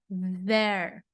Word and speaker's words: there: there, A pronúncia do TH de novo aqui, então lembrando que não é com T, não é com D, é there, there.